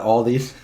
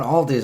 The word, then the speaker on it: Aldi: Okay, so when I first started going to Aldi, I called it Aldi's. Everybody's like, it's not Aldi's, it's Aldi.